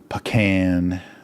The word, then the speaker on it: pecan: Pecan. So remember that if you're doing a Texas accent, how to pronounce pecan pie.